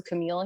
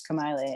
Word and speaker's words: Kamaile: she was like, "Oh, it was a Camille here," and I'm like, "It's Kamaile," and she just kind of looked at me like, "You're really gonna correct me?"